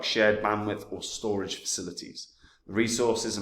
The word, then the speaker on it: Storj: in 2021 now storage it's pronounced a storage but I'm never going to say that storage um is an